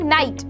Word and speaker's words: night: जैसे कि मैं बोलूँ नाइट, यहाँ पे रात वाला ही नाइट है, NIGHT, ठीक है, तो GH यहाँ पर बीच में आया तो हमने इसे पढ़ा ही नहीं, हमने केवल पढ़ा नाइट, NIT।